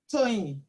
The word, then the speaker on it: Toyin: Toyin. Joy? Yeah, How do you spell that? Toyin. Okay, say it again. T as in Tom. Yes. O-Y-I-N. A-I-N. Yeah, And how do you pronounce it? Toyin.